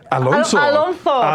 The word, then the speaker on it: Alonso: Y tú no sabes pronunciar mi nombre. Alonso. Porque Alonso. es español.